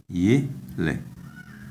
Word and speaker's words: yele: This is yele, yele. The tone is on the first syllable, yele.